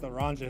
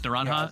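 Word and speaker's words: naranja: I never I never look at the Well, Nanha is it's Spanish for orange and usually in Spanish J's are like pronounced like H's. So I've been saying Niranha all night.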